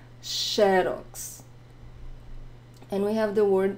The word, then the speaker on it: Xerox: here in Brazil is Xerox. So look at the first X, right? Not the last one, which is different. Xerox.